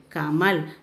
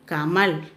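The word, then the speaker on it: कमल: See, this one is ka ma il kamal. The last letter is la. So you should pronounce as il. Ka ma il kamal.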